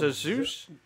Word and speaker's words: Asus: you pronounce this shit? Because that seems... It's Asus.